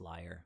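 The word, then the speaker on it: lyre: holding an instrument um i forget how you pronounce this instrument liar i guess or yeah i think it's liar um sounds like you're a liar but liar l-y-r-e um the details you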